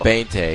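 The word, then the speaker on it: veinte: Bente.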